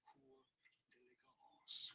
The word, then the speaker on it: concours d'élégance: say it as concours, the S is silent here, concours d'élégance, concours d'élégance. Did you get this? Was this anyhow popularly used around car, beauty, or elegance competitions? So how do you go about pronouncing it? I think they do them for horses as well and all sorts of things. In English, this is normally said as concours d'élégance. In French, concours d'élégance.